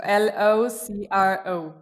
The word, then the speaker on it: locro: called the locuto okay any silent letters here that i need to be aware of no no no no so l-o-c-r-o yeah i got this right woo-hoo locro okay so what is